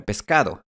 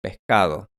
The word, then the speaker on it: pescado: Así que en estas zonas no se come pescado, se come pescado.